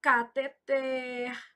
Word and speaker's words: cateter: Então, cateter, oxítona, arém.